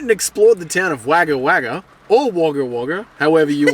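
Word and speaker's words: Wagga Wagga: you going to say Kate said it's waga waga and I was saying waga waga so if you've been laughing at how we've been saying it we only just learned that we were saying it wrong okay so stop judging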